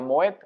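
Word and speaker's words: מועד: los tiempos se utiliza una palabra en hebreo que se pronuncia moët y esa palabra lo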